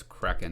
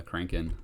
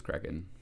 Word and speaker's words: Kraken: Oh, it's Kraken, not Kraken. I always call it, for whatever reason, since I was a little kid, I've always called it the Kraken. Even though it's Kraken.